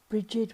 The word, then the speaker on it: Brighid: of the Sun and this lady is Bridge spelled a more commonly pronounced Brigid was worshiped as a